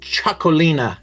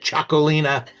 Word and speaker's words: Txakolina: This is called Cholina. That's how you pronounce that. Cholina.